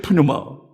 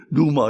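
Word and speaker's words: πνεῦμα: 푸스케 푸뉴마. 미국 사람들은 그걸 갖다가 이제 자기들 식으로 앞에 풀을 빼버리고 수케, 누마 이러는데, 우리는 뭐 그럴 필요 없습니다. 원래 헬라 사람들이 부르든 발음하는 대로 푸뉴마, 푸스케.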